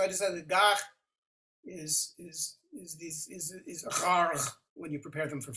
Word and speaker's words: ghargh: If you look in the dictionary, the Klingon dictionary, there's a word gharg.